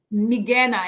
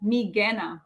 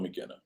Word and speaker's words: Migena: Migena. Everything is a hard G. Migena. Oh, hold on, McKenna.